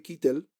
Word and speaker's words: Keitel: Tenemos, por ejemplo, Keith Carradine y luego está Harvey Keitel, o Keitel, parece ser que se pronuncia Keitel porque es un nombre alemán.